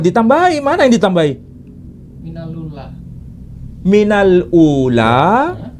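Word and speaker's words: مِنَ الْأُولَىٰ: Minal ula, ini dibaca minalula.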